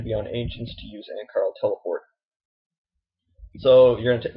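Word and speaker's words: Annakarl: Alternatively, you can use, I believe it's pronounced Ankarl teleport, which will bring you, let me just open the world map real quick.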